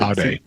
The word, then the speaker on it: aude: Aude. Aude, sapere aude. Oh yeah, you got to pronounce that last E in Latin.